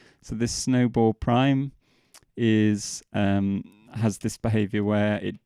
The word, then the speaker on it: snowball': So this is an alternative version, which I've indicated by adding this, which is pronounced prime. So this snowball prime has this behavior where it doesn't overlay itself on top of itself that second time round.